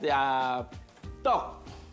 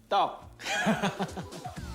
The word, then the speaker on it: tteok: Yes, it's called tteok. Please say tteok.